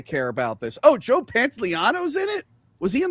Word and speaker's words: Pantoliano: Pantoliano? Yeah, Pantoliano.